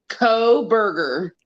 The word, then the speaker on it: Kohberger: Brian Kong Burger whatever however you pronounce his name it's co-burger coburger so Brian coburger lives